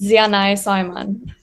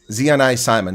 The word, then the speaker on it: Ziané Saayman: we're going to ask all right so Z Zeon Simon how close is that it's it's quite close I actually get that very often um but it's pronounced Z Simon zean Simon the Simon was correct okay Z so yeah